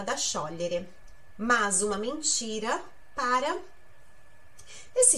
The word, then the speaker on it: sciogliere: Mas, literalmente, sciogliere, olha aí a pronúncia, sciogliere significa derreter.